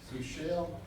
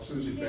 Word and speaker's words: Susie Bell: Sushil, Sushil, am I saying it right? Susie Bell. Is that what you're saying? Yes. Susie Shell, is that right? Susie Bell. Oh, Susie Bell.